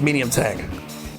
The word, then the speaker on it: Md Tank: recon cell heads up mdtec is pronounced medium tank okay all right